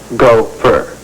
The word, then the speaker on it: gopher: You're what they call a gopher, pronounced go-fur.